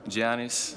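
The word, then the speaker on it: Giannis: I remember like kyle korver matthew dellavedova I pronounced it right Gianni's yeah a lot of j-league players your league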